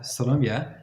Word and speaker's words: Siloamia: Today, we have Siloamia. Am I pronouncing your name correctly? You are, actually.